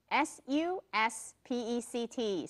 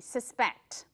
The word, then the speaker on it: suspect: 这个字如果重音往前挪，念成 suspect，suspect 就是嫌疑犯。那重音放在第 2 音节就是动词，怀疑什么人 suspected。